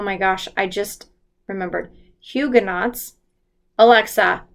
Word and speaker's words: Huguenots: ended up having a grape a group of Higa nots and they were are Huguenots Hugh oh my gosh I just remembered Huguenots Alexa pronounced hu g ue and OTS I pronounce